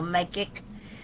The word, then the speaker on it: Makic: He says his last name sounds like Spacek, only with an M, so Makic.